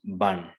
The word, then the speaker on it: burn: But in the British accent, it is burn. R is silent.